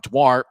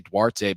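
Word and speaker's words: Duarte: lead about three minutes later it was Mark dwart and according to the Rapid City notes that's how you say his name even though a lot of people would say dwarte based on um you know people have similar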